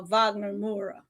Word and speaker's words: Wagner Moura: Russell Crowe for best actor instead of uh Wagner Moura.